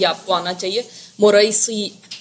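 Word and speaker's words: مريسيع: गजबे मोरे सी इसको अब स्पेल करना इसको प्रोनाउंस करना भी आपको आना चाहिए मुरई सी ये एक ही गजबे का नाम है ठीक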